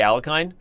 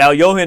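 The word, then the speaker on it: Alekhine: ways that pretty much no one barks at you if you say al kind yeah but al Johan is actually the most correct a yahan is also one and then I would say al yakin if I'm ranking political incorrectness since we're Americans the top of most correct is L Johan then L yeah n then a yakun then would be the best way to butcher the name and alright so h4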